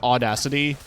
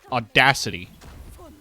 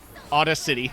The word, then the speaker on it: Audacity: oh sounds like you enunciate it in a weird spot the first time audacity audacity Auto City put the emphasis on the wrong syllable but other sounds are